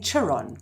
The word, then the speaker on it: Chiron: his name because I'm awesome at eclis saying Chiron and I've got his stopped myself but I